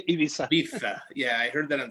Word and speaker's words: Ibiza: offices in madrid ibiza i don't think they pronounced that z i think it's like a th we say ibiza yeah i heard that